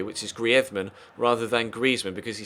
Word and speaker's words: Griezmann: season actually an gri requested to commentators in Spain that they actually pronounce his name the Spanish way which is griman rather than Griezmann because